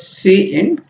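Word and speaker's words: cin: what it does love we pronounce this as C in and you are going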